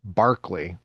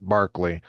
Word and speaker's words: Berkeley: after the famous philosopher Barkley. But if you go to Berkeley and study modern philosophy, taking a class on Barkley, they're going to pronounce it Barkley at Berkeley when it's the same guy.